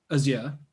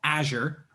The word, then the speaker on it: Azure: that we come across then, that's pretty much Azure, right? Microsoft Azure or Azure for our I actually prefer saying Azure.